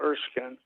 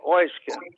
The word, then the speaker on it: Erskine: nice little touch was my name pronounced in Brooklynese was not Carl Erskine. It was Carl Oyskin.